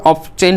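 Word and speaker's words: often: অফেন শব্দটির উচ্চারণ অনেকে আমরা অফটেন করি, অফটেনও বলা যেতে পারে, অফেন বলা যেতে পারে।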